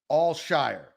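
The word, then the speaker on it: Al-Shaair: think we understand disease all shy ER right all Shire all Shire that's right I think before you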